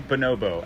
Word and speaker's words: Bonobo: Same by Bono bonobo I don't know how to say bonobo I should know how bonabo bonobo I think is the proper pronunciation stay the same yeah